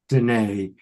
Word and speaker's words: Danae: And her website is Readings with Danae. Now that's spelled Denea. Danae, Denea, rhymes with Renee.